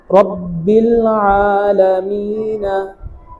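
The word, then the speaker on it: رب العالمين: রব্বিল আলামিনা, রব্বিল আলামিন, বানান এভাবে করতে হবে,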